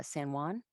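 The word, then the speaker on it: Samhain: me I celebrate uh say Juan uh San Juan which is it's spelled Sam Hayne it's a um yeah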